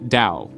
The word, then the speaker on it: Tao: So whether it's spelled with a T or a D, it's pronounced Tao.